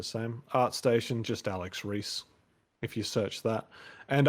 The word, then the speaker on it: Ries: have moved to twitter so i'm at alex reese art at twitter and reese is spelled with r-i-e-s uh no one gets the